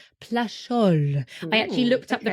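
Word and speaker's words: Plageoles: but there is a winery called domain plus plol plol I actually looked up the pronunciation for that so I actually believe that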